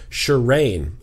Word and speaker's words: Shireen: My name is Shireen." I said it correctly, I believe, because she phonetically spelled it for me.